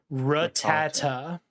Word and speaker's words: Rattata: up in the air ra tata that is the american pronunciation rattata i like how google